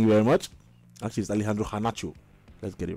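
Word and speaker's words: Garnacho: technically good players Eric all here Alejandro um gacho whaty go thank you very much actually Alejandro kanach let's get it right actually cuz I I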